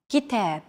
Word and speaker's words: كتاب: كتاب. كتاب. Notice that the second syllable is stressed. It's pronounced longer and louder, while the first and final syllables are shortened.